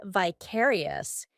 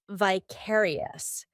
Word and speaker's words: vicarious: Although in American English, they're more inclined to say vicarious. In British English, it's vicarious.